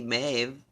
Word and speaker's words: Maeve: a celtic goddess my aide my a yeah maeve i guess m-a-y-v maeve that's how it's pronounced uh phonetically a celtic goddess maeve celebrates